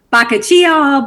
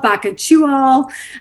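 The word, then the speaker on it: bakuchiol: results of it and baka chual or um there's lots of pronunciations you guys it's a weird word it can be baka chia baka chew all um it is a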